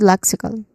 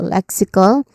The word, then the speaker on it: lexical: Um first syllable is le. It sounds like neck but with an L sound at the beginning and it is a stressed syllable le. This is the stress syllable for the first word.